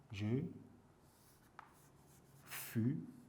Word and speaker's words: je fus: je F ça change je fus avec S vous voyez tu fu il faut faire attention ici à la prononciation en le confondant avec je fi va il va il